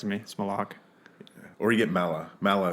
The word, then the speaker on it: Malaugh: it over with and I mispronounced it just a few minutes ago and I said mullik mullik yeah it's not it's close but it's it's malok yeah yeah nice all